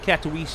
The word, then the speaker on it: Katowice: Almost to Katowice here. That's how you pronounce it.